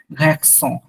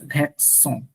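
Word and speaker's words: garçons: হ্যাঁ সি সে দিল, তখন উচ্চারণটা হয়ে যায় ছয়ের মতো। তখন উচ্চারণটা ছয়ের মতো হয়ে যাবে, যেমন ঘ্যাকসং, GAR, সি সে দিল ONS, ঘ্যাকসং, সং। তখন সি এর নিচে লেসটা থাকলে ছ, আর লেস না থাকলে সেটা হচ্ছে আপনার ক।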